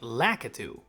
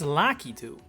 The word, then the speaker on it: Lakitu: this enemy's name as Lidu or do you say Lacatu? Well, congratulations. No matter which one of those you say, you're wrong. It's Lucky, as can be heard in the Super Mario Bros. Wonder Direct from almost 2 years ago.